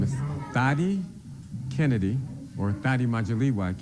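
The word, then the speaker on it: Dhati: Gonna Roll that video okay my name is Daddy Kennedy or Nadia majorly white Kennedy that is spelled D as in David h-a-t-i Kennedy k-e-n-n-e-d-y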